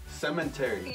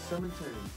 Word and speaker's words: cemetery: was right yes cementary cementary you're saying it wrong cemetery cemetery cemetery there's no n cemetery spelling yes before